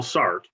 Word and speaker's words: Sartre: But one existential philosopher, Jean-Paul Sartre, or sometimes pronounced Sartre, thought that this was actually a burden, that freedom itself was a burden.